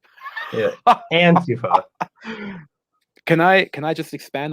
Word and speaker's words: Antifa: Can you say Antifa less like an American, please? Antifa. Antifa. Antifa. I keep putting the emphasis on the wrong syllable. Yeah, Antifa.